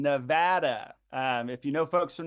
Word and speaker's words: Nevada: calling folks in Nevada tonight, and note the pronunciation, Nevada. If you know folks from Nevada, it's important to say that, not Nevada or Nevada. Nevada is how you pronounce it for folks calling there.